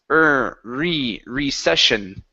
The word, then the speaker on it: recession: Okay, and we want to focus on the R at the beginning of the word. Okay, so it's instead of he, it's recession. recession, Okay, give me an R.